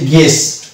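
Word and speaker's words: guess: এটার উচ্চারণ হচ্ছে গেস।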